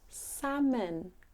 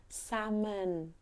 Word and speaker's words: salmon: it the pronunciation is salmon s m salmon salmon so the L is actually actually silent salmon I like to